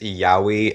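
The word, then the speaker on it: yaoi: Yeah, I don't know enough anime to uh it's pronounced yahi and it's it's like gay stuff.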